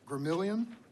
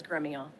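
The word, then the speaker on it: Gremillion: Gramillion. Did I pronounce that correctly, Ms. Gramillion? It's the Texas pronunciation. Well, you go ahead and give me the pronunciation. The correct pronunciation is Gremillon.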